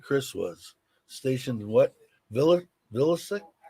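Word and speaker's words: Vilseck: who was stationed chris was stationed what villa villasec how do you pronounce that vilsack vilsack wilson wilson i was in k-town kaiser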